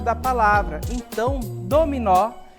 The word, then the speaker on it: dominó: aqui olha só dominó certo então a gente diz que o mó é a sílaba tônica da palavra certo continuando as demais